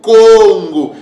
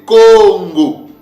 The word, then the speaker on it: Congo: Cees mot là donc le deuxè cas là va se prononcer avec un son du de G comme un son de G ok donc c'est ce qui donne le son g que j'ai que vous voyez là donc c'est Congo c'est comme ça que ns pè le prononcer Congo OK et que veut